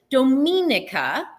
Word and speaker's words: Dominica: I always say it wrong. I always second guess myself, but it's Dominica is is is the is what it's called.